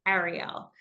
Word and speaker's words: Ariel: And for a long time, I said, it's Ariel. And they couldn't do it. And then I would try to say, it's A like an apple.